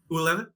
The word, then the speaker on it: ular: Ular? Ular. There we go. That's the way you're supposed to say it. Damn. You roll your R's at the end, is the thing.